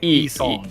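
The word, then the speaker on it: Yi Sang: I instead chose to help Yi-Song to his room. What's the correct pronunciation? E, like just E. E-Song. E-Song.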